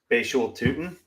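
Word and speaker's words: Bhayshul Tuten: I'm going to go Bashul Tootin.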